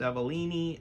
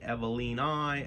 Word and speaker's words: Hoya evelinae: myself and Hoya evalini it could be pronounced avalini evelinai eveline a we're gonna go with avalini apparently uh botanist pronounced it all over the place so there's no real right or wrong way that's what I read on the internet so we'll call it